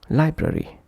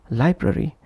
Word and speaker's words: library: For example, library, instead of pronouncing as library, if pronounced as library, library, library, sounds unnatural.